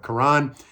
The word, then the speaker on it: Karan: This guy's named Malik, and this guy's Karan. His name is spelled like Karen, but it's with 2 A's. It drives him nuts if you call him Karen.